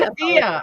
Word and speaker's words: Edilla: We don't know how to pronounce his name, so we're gonna Edilla. I think it's Adia. We're gonna mispronounce his way Edilla because he's not here. Adia. We It's Adia.